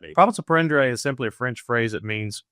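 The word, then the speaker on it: profit à prendre: stuff here in a second, but talk about prophet send. I didn't mispronounce that, by the way. That actually is the correct pronunciation. Yes, that's not misspelled. Tell us what that means. Prophets of is simply a French phrase that means profits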